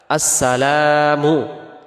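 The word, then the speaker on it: السلام: আসসালামু। এখানে লামের পরে যে আলিফটা আছে এটাকে এক আলিফ টান দিতে হবে।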